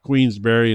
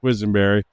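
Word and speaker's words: Quisenberry: So, since we got your name wrong tonight to start with, about half the time we were calling you Queensberry instead of Quizenberry, uh that might be a good sign.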